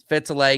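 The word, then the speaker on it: Fetalaiga: How do you pronounce that first name, Sam? Would you say Fetalega? Fetalega Yep.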